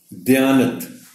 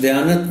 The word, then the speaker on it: دیانت: توجہ چاہیں گے۔ قلم، دیانت، لفظ دیانت میں دال کے نیچے زیر ہے۔ کچھ لوگ اس زیر